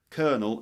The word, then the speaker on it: colonel: officer, you know, spelled K E R N E L. Colonel. And in this case, a colonel is a nut. It sounds exactly the same. You've got colonels. So a colonel is a nut, you know, but it sounds exactly the same as a senior officer as the word for the senior officer Sanders and then you've got a pine kernel meaning a pine nut. Same sound.